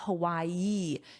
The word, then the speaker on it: Hawaii: And notice my pronunciation of Hawaii. You have Hawaii. Hawaii. You have that ee sound at the end.